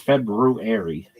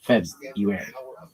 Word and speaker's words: February: And it's February, not February.